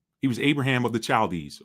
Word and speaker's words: Chaldees: He was Abraham of the Chaldees, or the Chaldees, if you want to pronounce it with that hard ch.